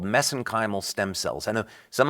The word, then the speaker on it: mesenchymal: Yeah, so I know I get criticized for that, but that's a little bit of an Irish accent on my part.